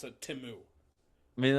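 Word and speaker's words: Temu: it if you're could to say spell or pronounce it timu I mean like that just solidified like if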